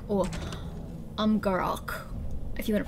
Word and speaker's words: Amgarrak: The Golems of Amgarrak, or Amgarrak, if you want to pronounce it with the correct accent.